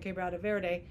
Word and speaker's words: Quebrada Verde: And then on the other hand, we're starting, we finished a year of EIA on for drilling permits for Cañariaco Sur and Quebrada Verde, and move ahead with the agencies that handle those EIAs to keep, just not stop here.